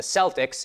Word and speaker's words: Celtic: Celtic with a hard C or K is the standard, but that was not always the case. The early pronunciation was with an S sound reflecting its nearest origin in French.